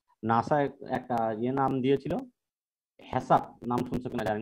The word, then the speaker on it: HACCP: এটা কেন বলি হ্যাসাপ বলে, অনেকে হ্যাকআপ বলে, আমাদের দেশের যেহেতু সি কে অনেক সময় কে উচ্চারণ করে, কিন্তু যেমন আমরা কন্ট্রোল বা করি সেই জন্য মানে হ্যাকআপ বলে, আবার অনেক জায়গায় হ্যাসাপও বলে।